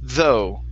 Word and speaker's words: though: Okay, so we're going to end with an oo sound. The GH do not make a sound. So this is though.